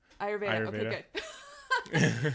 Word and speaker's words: Ayurveda: you're so welcome yeah yeah it's huge so ayurveda am i pronouncing that right yeah ayurveda so i i just want to say for